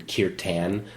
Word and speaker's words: kirtan: It looks like it's written kirtan, but it's actually, the pronunciation is kirtan.